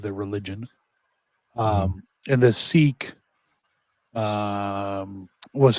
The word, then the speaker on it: Sikh: It's pronounced Sikh, isn't it? Yeah, it's pronounced Sikh.